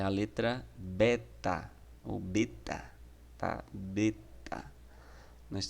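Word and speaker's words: βῆτα: A segunda letra é a letra beta, ou beta, tá? Beta. Nós temos aí o beta, ele é escrito aí, ele tem a pronúncia, né? Como B mesmo, do nosso português. Exemplo disso em bondade.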